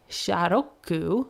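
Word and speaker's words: シャーロック: Shiyaroku sounds like Sharoku, which is how the Japanese would pronounce Sherlock.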